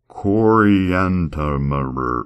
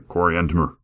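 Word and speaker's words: Coriantumr: Coranimer, that's there's a missing vowel at the end because it's like t u m r. It's like coranimer and the slain of his people.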